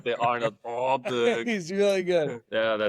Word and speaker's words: Åberg: So I like Ludvig Åberg. That's right. Not for 3. Oberg, baby. Pronounce it Åberg, even though it's Åberg. It's got the Åberg. circle above the A.